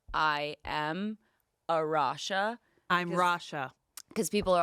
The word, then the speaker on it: Arasha: have a very special guest with us today arasha and I'm Rasha that's how you guys said your name gorgeous that is the proper pronunciation of your name yeah I think I